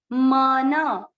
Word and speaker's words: मनः: मन, मन, अ की मात्रा है, विसर्ग को ह पढ़ेंगे, मनः, मनः।